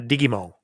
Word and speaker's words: Digimon: If you're here in Japan, though, it's, Digimon. Uh-huh. So, I believe you. Japanese, pronunciation.